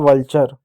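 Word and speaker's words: vulture: TURE को इसको हमेशा हमेशा चर ही पढ़ते हैं, ठीक है, चर पढ़ते हैं, इस बात को याद रखिएगा। तो हो जाएगा वल्चर, उलचर नहीं वल्चर हो जाएगा, वल्चर हो गया।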